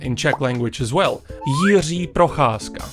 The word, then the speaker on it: Jiří Procházka: Jiří Procházka. That's how you pronounce his name.